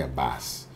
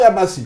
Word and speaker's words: Yabasi: Why Yabas? Well, it's not Yabasi. Yeah, it's Yabas. The eye is silent.